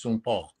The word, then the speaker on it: St. Paul: It's pronounced Saint Paul.